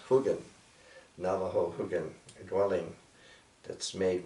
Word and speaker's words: hogan: And here, this great display here, this is a clay made hogan, properly pronounced hugan, Navajo hugan, dwelling that's made with logs.